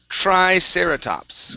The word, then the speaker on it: triceratops: word here is pronounced triceratops Okay So couple things here So we have the tr at the beginning with the tr You want to make sure you're pronouncing a chr Instead of try it's